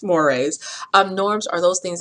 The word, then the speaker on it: mores: And mores, I know it's spelled moores, but it's pronounced mores.